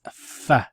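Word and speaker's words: ف: You can see the nail there, and it's fa. So finger, fa. Pronounce it with me. Fa, like F, fa, fa.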